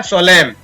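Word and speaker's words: solemn: इसी प्रकार सोलेम, तो एन साइलेंट है।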